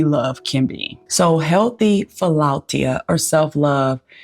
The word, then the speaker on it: philautia: So in the Greek, it is pronounced philautia.